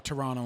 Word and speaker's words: Toronto: It's like, I'm from Toronto and don't pronounce the second T.